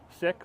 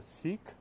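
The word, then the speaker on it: Sikh: is for the um sick or pronounced sometimes in Ontario seek uh group and everyone can come and learn a little bit more about sick culture as we pronounce it over here in Vancouver and uh you know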